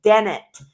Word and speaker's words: Dennett: It's Dennett.